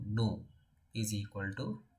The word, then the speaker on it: nu: by small V and we'll pronounce it as Nu new is equal to N